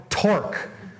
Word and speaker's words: torque: this new physical quantity called torque and I said at the beginning slide rhymes with fork it's you know got this ridiculous spelling but it's kind of like a force but it's how it's